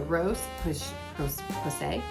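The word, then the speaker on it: Roche-Posay: in the great category the rose push Jose this is how you say it is their hydrating gentle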